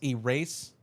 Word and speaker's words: Erasable: I've been saying erasable. It's Erasable. My bad. Erasable. Sorry about that. I like to pronounce people's names correctly if I can. Anyways, Erasable, welcome to the stream. Okay. It's erase-able.